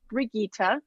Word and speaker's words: Brigitta: a brigita think Sound of Music and then the last